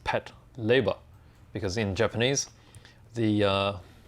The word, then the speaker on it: Patlabor: this particular kit of the ingram from the pat labor series actually i've been saying pat labor for a very long time but after doing a little bit of research it's actually meant to be pronounced pat leiber because in japanese the uh where is it